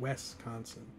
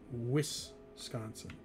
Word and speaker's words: Wisconsin: and from the midwest pronounce wisconsin wisconsin like there's an e instead of an i it's wisconsin which sounds funny lee